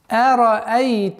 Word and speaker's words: أرأيت: أَرَأَيْتَ الَّذِي يُكَذِّبُ بِالدِّينِ.